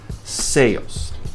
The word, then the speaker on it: sales: Esse S tem som de Z.